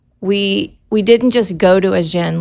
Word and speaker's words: Agen: So we got the walls of Agen as well as the restaurants and the food.